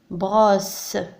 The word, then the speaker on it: brosse: هنا الحرف S مضاعف محصور بين دو فويل لكنه مضاعف، يعني يوجد اثنين من الحرف S. دونك ننطقه س وليس ز مثل هذه الحالة. دونك عندما يكون الحرف S مضاعف بالرغم من أنه محصور بين دو فويل لكن ننطقه س.